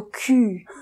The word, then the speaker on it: cul: Par exemple, confondre le U et le OU, ça peut devenir embarrassant. J'avais quelqu'un qui avait dit « ah, j'ai très mal au cul ».